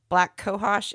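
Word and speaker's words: black cohosh: your post um that you recently did about black kohos am I pronouncing that correctly yeah yeah you are um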